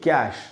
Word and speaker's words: coup: ये इसमें P silent है, COUP, खू पढ़ेंगे, कू, कूप नहीं पढ़ेंगे, कू।